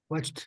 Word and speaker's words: watched: Watched. Sonido. Solo es un sonido, entienda eso, un sonido. Watched.